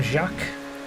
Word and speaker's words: Jacques: i'll take it uh my name is pronounced like jock by the way it's french i am jacques like like uh jacques